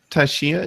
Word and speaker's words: Tashia: said um so uh Tashia is that how it's pronounced yeah could you elaborate on your question I think I called you Tasha before I'm sorry about that it's okay I'm called both so um I was